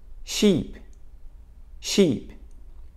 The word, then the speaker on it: sheep: one is chip chip cheip cheep chip chip Sheep Sheep tip tip mais uma vez chip chip cheip